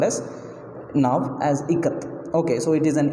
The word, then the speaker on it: Ikat: Okay, so she gave the pronunciation there. Okay, so Kha as in Kamala, Ka, and Tha as in both. So Ikat.